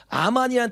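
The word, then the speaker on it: אמן: 알레프가 뭐예요? 묵음이에요. 그래서 아 발음이다. 아. 요거는 미음입니다. 요것도 아요. 그냥 아만이에요. 아만. 아만이란 뜻이 무슨 뜻이냐면, 우리가 말했던 것처럼 믿음이란 뜻이에요.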